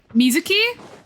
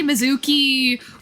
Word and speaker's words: Mizuki: It's three syllables. Like come on. Anyway, because that the that NPC's name was Misuzu, which vaguely reminded me of Mizuki.